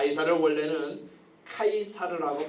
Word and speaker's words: 카이사르: 수 너였어 가이사 악을 쓰도록 가 이사를 원래는 카이사르 라고 발음하는 데 요 타이 쌀 영어 발음으로는 시작하고 해서 c0 시저 라는 말은 좀 많이 들어보셨죠 예 그렇게 야하고